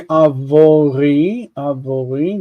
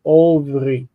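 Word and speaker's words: עָבְרִי: You don't say avori. This actually becomes o, ovri.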